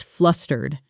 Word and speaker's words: flustered: Let's practice flustered. The stress is on the first syllable.